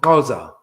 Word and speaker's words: Xhosa: I got XHOSA, not KOSA. I said, that's like the tribe. It's actually pronounced Koza. It's a click language.